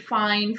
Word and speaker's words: feign: in four zero one feign or fine what do we pronounce it fine feign pretense okay fascinate